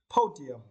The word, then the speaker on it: podium: and for this course you need to Str the first Sy po Podium Podium it means a small